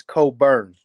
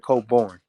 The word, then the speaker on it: Cobourne: doing it but I have to um it's Cole Burns instead of coborn um and it's it's a Miss it's a